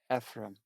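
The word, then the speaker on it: אֶפְרַיִם: The children Ephraim, in Hebrew that's pronounced Ephraim.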